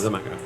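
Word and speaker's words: Xaymaca: Zamaka.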